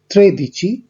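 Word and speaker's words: tredici: 12-এর ক্ষেত্রে উচ্চারণ হচ্ছে দো দিচি, 3-এর ক্ষেত্রে বা 13-র ক্ষেত্রে ত্রে দিচি, 14-র ক্ষেত্রে কোয়াত্তোর দিচি, 15-র ক্ষেত্রে কুইন দিচি এবং 16-র ক্ষেত্রে সেই দিচি।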